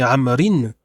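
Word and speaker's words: عمرو: lorsqu'il est également majrour quand c'est écrit amrin on rajoute aussi unécrit après le r mais ce n'intervient pas dans la prononciation par contre quand il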